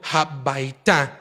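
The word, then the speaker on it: הביתה: que es casa, y cuando se le une el hey al final, toma la pronunciación de ta, que significa entonces a la casa. En este caso, el hey al final de la bait indica el movimiento hacia la casa y correctamente deberíamos de pronunciarlo como habaita, que significa a la casa.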